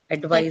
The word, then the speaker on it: advise: So the stress on the word advise is on the second syllable, and you add or as a suffix.